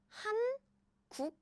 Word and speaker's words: 한국어: But in Korean, we actually connect all the pronunciation and sounds is like pronounce it naturally and smoothly, not like han pause, 국 pause, We make it very natural and smooth, just like English.